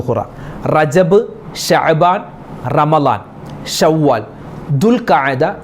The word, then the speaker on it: ദുൽഖഅദ്: ആളുകളും ചോദിക്കുന്നു ഉസ്താദേ ഈ ദുൽഖ്ദ എന്നാണോ അതുപോലെ ദുൽഖിദ എന്നാണോ ദുൽഖുദ എന്നാണോ എന്താണ് പറയേണ്ടത് ദുൽഖദ എന്നാണ് പല ആളുകളും ദുൽഖാദ മാസം ദുൽഖാദ എന്ന് പറയും ദുൽഖാദ മാസം ദുൽഖിദ മാസം അങ്ങനെ പല രൂപത്തിലാണ് ആളുകൾ പറയാറുള്ളത് എന്താണ് കറക്റ്റ് അതിന്റെ ഉച്ചാരണം എന്താണ് ദുൽഖദ എന്നാണ് അതിന്റെ ഉച്ചാരണം ദുൽഖദ അതുപോലെ ചില ആളുകൾ ദുൽഹജ്ജ്